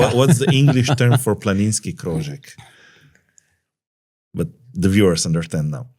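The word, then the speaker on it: planinski krožek: Planinski Croek.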